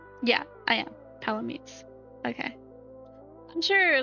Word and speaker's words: Palamute: Palamutes.